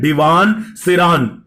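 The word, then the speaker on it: Derevaun Seraun: ये जो फ्रेज है इसका प्रोनाउंसिएशन है डिवान सिरान।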